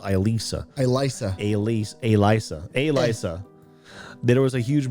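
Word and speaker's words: Alisa: The night I was dining with Masha, Sasha, and Alyssa. Her name hasn't changed. What? There was a huge bowl. No, it's pronounced different. It's pronounced Elisa.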